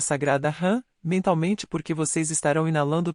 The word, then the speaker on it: Ham: Jan se escreve com as letras H, A e M. Sar se escreve com as letras S, A e H. A letra H, tem o som de R.